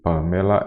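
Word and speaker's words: Pâmela: Pamela é uma proparoxítona, como você já observa, porque a antepenúltima sílaba é a mais forte, observe.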